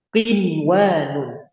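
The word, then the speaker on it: قنوان: Bunyanun, bunyanun, qinwanun. Kemudian yang terakhir sinwanun. Nah, cara bacanya gimana?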